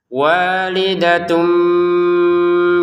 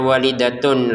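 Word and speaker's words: وَالِدَةٌ: Walidatum biwaladiha. Jadi jangan dibaca walidatun lagi tapi walidatum. Makanya di atasnya ta ini ada mim kecil ya. Ini menandakan cara bacanya bukan tun lagi tapi tum.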